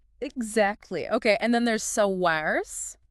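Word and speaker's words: Saoirse: okay and then there's SARS SARS meaning Freedom yes pronounced CA such a unique name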